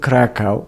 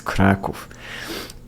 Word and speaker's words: Kraków: So it's not Krakow, it's Kraków. But anyway, I was born there.